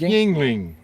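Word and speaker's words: Yuengling: It's yingling. Jingling, jingling. Not yingling. Jingling. No, it's not jingling, yingling like dingling. It's yingling.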